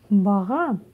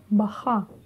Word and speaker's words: баға: Но попробуйте для начала прочитать баха. Баха. А теперь букву «х» нужно сделать более звонкой. И всего лишь «г», «г», «г».